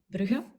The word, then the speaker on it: Brugge: In Dutch, it's without the 2 dots, and you pronounce it Brugge.